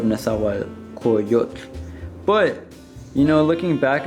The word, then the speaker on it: Nezahualcóyotl: And this is actually misspelled because I did not include the L syllable at the end, or the L sound. It says Nezahualcóyotl instead of Nezahualcóyotl.